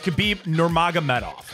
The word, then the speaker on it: Khabib Nurmagomedov: Khabib, I got Technically, that it's like Habib. Like, they don't say the kid. But it's Khabib Nurmagomedov.